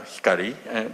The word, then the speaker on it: Hikari: instead I decided to use the name Hikari pronounced uh Hikari meaning light after all I thought there can